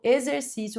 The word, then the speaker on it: exercício: O vocábulo exercício recebe acento gráfico por ser uma palavra paroxítona. De fato, é uma palavra paroxítona. Tem a penúltima sílaba mais forte.